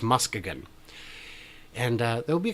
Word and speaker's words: Muskegon: going to Muskegon and I know you're saying that's not how it's pronounced but apparently according to the city council for their annual Meetup in June each year it is that how it's pronounced it's official it's still spelled the same but it's Muskegon and there will be